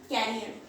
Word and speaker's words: career: उसका मतलब होता है कैरियर। तो दोनों का प्रोनाउंसिएशन अलग है, करियर होता है, कैरियर होता है।